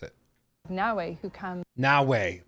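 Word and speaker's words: Naoe: Naue, who comes Naue, like Huawei, but Naue.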